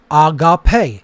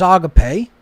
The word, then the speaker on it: agape: alpha gamma alpha pi eta and again agape pronounced agape it's not agape or agape right so thalema